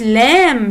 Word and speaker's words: lamb: it's lamb. yes. في letter في الآخر اللي هو اللي قلنا عليه silent.